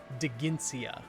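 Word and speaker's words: Dheginsea: name of the dragon king degencia there's a silent h in there too d h e g i n c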